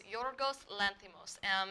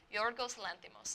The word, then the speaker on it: Yorgos Lanthimos: Yes, so his name pronunciation is Yorgos Lanthimos. His name is Greek, and he's a Greek film director, so it's a little harder to pronounce, but I listened to a pronunciation, and it's Yorgos Lanthimos.